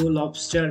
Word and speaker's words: Lobstr: I'm saying uh lob as your account to Lobster because it's a same pronunciation so that's for the video and if